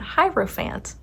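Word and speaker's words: Hierophant: We've got the page of swords, the knight of cups, and the hierofant. Hierofphant. I always mess this one up. It is so difficult for my mind to wrap around hierofant.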